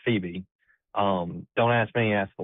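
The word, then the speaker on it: Pheba: Hebron Christian in Phoebe, Mississippi, and yes, it's pronounced Phoebe.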